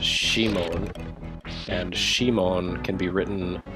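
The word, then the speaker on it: シモン: And that's a really clever pun, because Simon in Japanese is pronounced Shimon, and Shimon can be written as Gate of Death.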